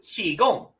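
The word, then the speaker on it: Qigong: And they do the exact same thing with Chi Gong. They spell it c h i instead of q i, which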